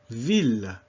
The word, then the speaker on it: ville: One exception that you should know sooner than later is ville.